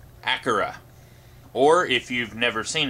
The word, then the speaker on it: Akira: review this time for an animated movie called acura or if you've never seen this movie before you may have heard it pronounced as akira as i did before i saw the film